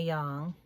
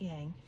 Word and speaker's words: yang: It's pronounced yang, not yang.